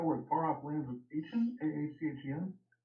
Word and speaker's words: Aachen: Far off lands of Aachen? A-H-C-H-E-N? Say again? How do I pronounce that area of service?